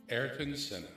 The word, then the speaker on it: Ayrton Senna: Ayrton Senna.